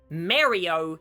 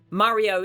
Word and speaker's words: Mario: Mario is an Italian word, and many Italians immigrated to America, so their dialect took over, leading to the correct pronunciation coming from the States. But in England and Canada, vowel sounds tend to be shorter, leading to a much smaller emphasis on the R sound, meaning that Mario sounds